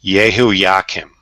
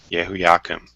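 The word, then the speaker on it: Jehoiakim: with these these names I believe is pronounced yeah whoo yeah Kim yeah whoo yeah come that was in 605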